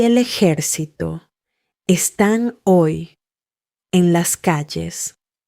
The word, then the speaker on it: están: Están. Your turn. Repeat after Lucia and punch that last syllable, están.